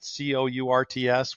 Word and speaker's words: Cordts: Instead of Cordts, Cordts, they spelled it Courts, which is pronounced correctly, but Okay.